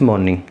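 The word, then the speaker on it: morning: at home since मॉर्निंग यह are pronounce हो गया मेरे से मॉर्निंग बोला जाता है इसको आर पे स्ट्रेच नहीं होता Chintu has been at home since मॉर्निंग ऐसे बोला जाएगा और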